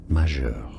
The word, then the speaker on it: majeure: So for reference in French it's said as majeur.